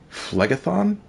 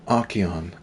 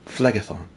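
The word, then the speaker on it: Phlegethon: and I moved on flag-a-thon not akian flag-a-thon he was a hero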